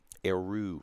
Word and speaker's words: Aru: I haven't checked out Aru, not Andrew. I always call him Andrew.